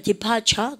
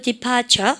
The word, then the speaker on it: departure: 미국 애들은 R 발음 시게 합니다. departure. 그죠? 근데 영국 애들은 중간에는 R 발음 하지 않아요. departure.